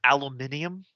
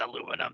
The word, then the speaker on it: aluminium: heard of my cures I'm sorry Richard it's pronounced aluminium sorry aluminium hat it's aluminum that can suck I've talked to British people